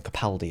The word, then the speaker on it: Capaldi: Sorry, I mispronounced it as well. I realised when I was editing. Capaldi is how you say it.